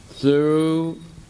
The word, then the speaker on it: through: There's though, through, thorough.